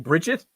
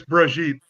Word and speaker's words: Brigitte: Am I saying it wrong by just saying Bridget? Yes. Yeah, no, it's Brigitte.